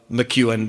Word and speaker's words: McEwen: mccowan mccowen mack ewin it's kind of like you and mcgregor only there's a mick in front of it right now here's what's